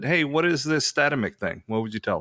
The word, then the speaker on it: Statamic: The original intention was Statamic, but I think most people say Statamic because that's what it looks like.